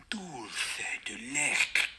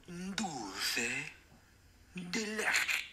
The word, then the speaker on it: dulce de leche: I think dulce de leche. Again, another thing that I probably not pronounce right. Dulce de leche. Dulce de leche.